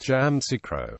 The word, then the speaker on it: Yamoussoukro: Jam orro is pronounced jamro by ivorians it is rarer to hear y micro the second U is silent history prehistory stone tools